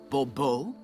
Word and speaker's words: Bourbeau: The emphasis falls on the last syllable. Bourbeau?